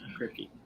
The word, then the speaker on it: Kripke: Is that how you pronounce his name? Kripke? Yes. Kripke.